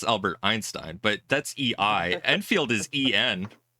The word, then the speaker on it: Enfield: Did you call them Einfield? It's Enfield.